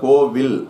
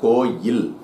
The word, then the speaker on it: கோயில்: இப்ப இந்த வார்த்தையை எப்படி நம்ம தப்பா உச்சரிக்கிறோம் அப்படின்னா கோவில் அப்படிங்கறோம். அது கோவில் கிடையாது கோயில்.